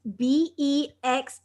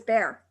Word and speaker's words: Bexar: I'm saying yes exactly b x a r is bear that's Monte Monte right